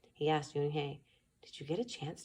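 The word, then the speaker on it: Unhei: Everyone tried to say it. Yunhye, Un-yi, An-hye. Yunhye said her name again slowly and clearly. Soon the kids began to say it better, even Mr.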